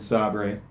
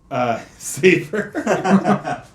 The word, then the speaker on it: Sabre: The Office here mixed things up, with Dunder Mifflin and Sabre, Michael leaving, Andy managing, and so... Is it pronounced Sabre? Saber.